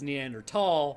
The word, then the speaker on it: Neanderthal: Neanderthal or neander tall the Germans pronounce t h at least from what I've come to understand as a t sound not a th sound so it actually is is neander thall but nobody's going to